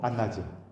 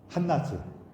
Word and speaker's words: 한나: 그 사무엘의 어머니 이름도 안나죠. 한나죠.